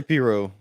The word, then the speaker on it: pirogue: But you can't pronounce the G too heavily either. So the way I was thinking about it is you have to say it fast enough to where nobody really knows how you pronounce it. If you they're not sure if you said the G or not. Right. Just Piro. So I say Piro. I don't say the G.